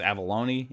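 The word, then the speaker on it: Avellone: was actually from Chris I think it's Avallone is how you say the last name.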